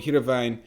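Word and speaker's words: Heerenveen: like that i lived in a town called hiravain and every now and then we go to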